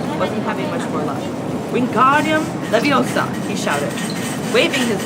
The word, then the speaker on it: Wingardium: having much more luck wingardium leviosa he shouted waving his long arms like a windmill you're saying it wrong carry for hermione it's being guardium the viosa makes the guard nice and long you do it so